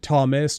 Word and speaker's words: Thomas: because i mean yeah thomas tom there's a little h in there but no one pronounces the h yeah which is handy